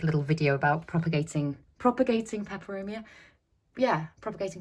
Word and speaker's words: Peperomia: I'm actually gonna, I did make a little video about propagating Peperomia. Yeah, propagating Peperomia. That sounded like I just said it wrong, but I did say it right. Propagating Peperomia.